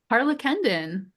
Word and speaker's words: Harlakenden: Harla Kendon. Harla Kendon.